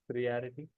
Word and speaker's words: priority: Priority. Priority. H. So it's not pre but pri. Priority. Priority. Pri then the word the letter O has to be completely O.